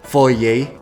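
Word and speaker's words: foyer: One is na-pronounce ng tama ni ma'am Beya ang foye foy.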